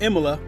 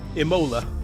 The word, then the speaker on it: Imola: We are at Imola, or as I've pronounced it in the past, Imola.